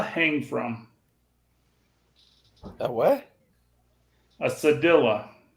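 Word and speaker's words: cedilla: from that what a sedilla spell it for me c-e-d-i-l-l-a what letter yeah if it was Spanish it'd be a Sadia but it's not so it's sadilla uh how fast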